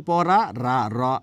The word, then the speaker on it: পড়া: কি সেটা আমি জানি সে উচ্চারণটা এইরকম যেমন পড়া আর এটা হচ্ছে পড়া এটা হচ্ছে পড়া রা মানে কম্পন জাতজনি আর এই হচ্ছে কি পড়া পড়া আমি জিব্রাটা উল্টিয়ে দিয়ে বলার চেষ্টা করেছি কতটুকু হয়েছে জানিনা তো এই পড়া